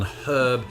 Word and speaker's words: herb: we're talking about pronunciation A lot of Americans have a tendency to drop the H on herb whereas the British tend to keep it but that was not